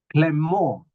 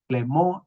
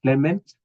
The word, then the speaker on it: Clément: And with that, we have from Rwanda, a gentleman by the name Clément Irario. Clément Irario. It's a French name. Don't pronounce it as Clement.